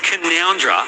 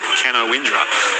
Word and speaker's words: Canowindra: From Beck, who says, "Hey boys, it's pronounced Canoundra, but for many decades have non-local radio peeps said Canowindra.